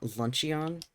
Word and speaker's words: luncheon: Luncheon. Because there's already a way to spell luncheon.